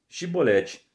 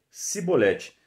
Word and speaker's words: chibolete: não então lhe diziam dize pois chibolete porém ele dizia sibolete porque o não podia pronunciar assim bem então pegavam dele